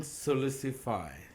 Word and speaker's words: Sulisufay: His name is Jason Sulicipa.